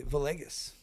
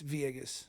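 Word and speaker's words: Villegas: My wife, her uh maiden name is Viegas, and it's spelled V I L L E G- A S. And most people will say Vus. So the the L's make E. So it's Vieus.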